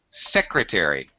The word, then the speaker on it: secretary: okay yeah secretary secretary have more e in your SEC secretary and first syllable stress secretary okay all right uh